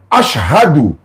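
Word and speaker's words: أشهد: Tu as dit Ha, on dit pas Hou, faut dire H. Ashhadu.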